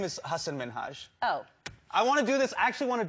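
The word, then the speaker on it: Hasan Minhaj: television good please because everyone that says your name says hassan minaj yeah but the real way you pronounce it and this is a big deal because my parents are here it's hassan minhaj and people always mispronounce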